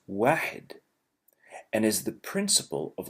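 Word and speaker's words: واحد: Arabic it's very clear the number one is pronounced wedded and is the principle of all numbers one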